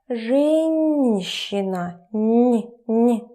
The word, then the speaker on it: женщина: About pronunciation, remember that hard consonants followed by soft consonants become soft themselves. Женщина, н.